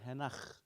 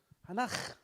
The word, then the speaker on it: hanach: I don't know how long it took me to learn the word henach. Still, henach. Oh my gosh, henach. How do you say it again? I have to ask 1,000 times. Hanach, hanach, hanach. Okay, hanach.